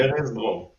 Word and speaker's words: Erez Dror: it right after with the correct pronunciation, but Erez Dror. Did I say that right? You Decent, got halfway decent. All right, you say it so everyone knows correct pronunciation. Erez Dror, but it's a Okay, very hard name way to better pronounce.